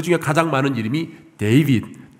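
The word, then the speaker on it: David: 그 중에 가장 많은 이름이 데이빗, 다윗의 영어 발음이 데이빗인데 데이빗이라는 이름이 참 많았습니다.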